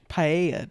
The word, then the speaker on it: paella: That'd be National Spanish Paella Day.